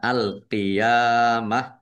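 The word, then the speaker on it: القيامة: Kemudian ta marbutah karena waqaf maka dibacanya ha sukun. Dibacanya alqiyamah.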